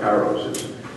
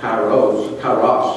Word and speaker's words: Kairos: Kairos is a Greek word, and I've heard it pronounced a number of times. My ministers tend to pronounce it Kairos, or something like that, which is probably a correct Greek term.